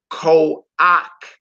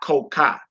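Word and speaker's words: כוח: You would say ko-ak, not ko-ka. All right, ko-ak, ko-ak, ko-ak. So when you see that minus vowel underneath that ket, just remember ak and not ka. If it's at the end of a word, it's ak, not ka.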